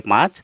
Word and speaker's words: पाँच: असमिया में इसको पाँच कहते हैं, पाँच इस तरह संख्या लिखेंगे पाँच, और उच्चारण होगा इसका पाँच, नाक से ही, चंद्र बिंदु है इसमें इसलिए इसको नाक से हम उच्चारण करेंगे पाँच।